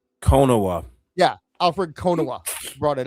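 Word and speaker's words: Konuwa: How do you pronounce his last name? Konowa.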